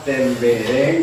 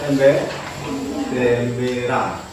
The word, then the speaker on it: tembereng: Ya, desain, kemudian tadi membaca tembereng, dibaca temberang. Ya, biasa. Salah pengucapan itu biasa.